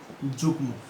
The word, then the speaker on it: যুগ্ম: ঠিক আছে, যেমন যেমন দেখো গ সঙ্গে যুক্ত হলো, এটার উচ্চারণটা কি হবে? যুগ্ম।